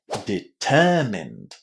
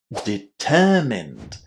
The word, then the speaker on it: determined: Where do we put the stress? On the second syllable. Listen and check. Determined. Determined. Did you hear how M-I-N-E-D was pronounced here? It was mind, wasn't it?